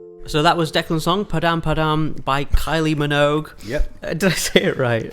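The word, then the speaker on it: Padam Padam: So that was Declan song, Padam. Padam by Kylie Manog.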